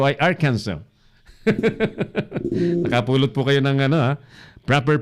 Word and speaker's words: Arkansas: Kakaibang pronunciation, Arkansas. Pag binasa nyo yan, literal, Arkansas. Pero ang pronunciation po ay Arkansas.